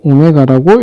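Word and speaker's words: ω: W라고 쓰고 오메가라고 읽는다.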